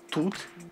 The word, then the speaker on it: tous: quatre formes tout pousse avec le s final qui se prononce tout et tout nous avons